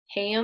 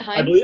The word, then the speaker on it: Haim: Is that how you pronounce it? Haim? I believe it's pronounced Heim.